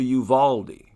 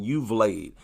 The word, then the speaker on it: Uvalde: these dogs he's worthless much down there to yuvaldi i've been pronouncing it wrong for a while i was saying you've laid but it's actually okay a lot of people